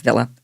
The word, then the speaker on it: Villa: It's Villa. Aston Villa. Say it the British way.